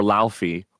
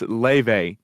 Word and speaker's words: Laufey: everyone kept calling her Laufey or Luffy, like the One Piece character. Yeah. And so I had to message my partner and be like, okay, how do we definitively say her name? And my partner thankfully is there to save the day. And it's like, no, it's Leve. Please say Leve.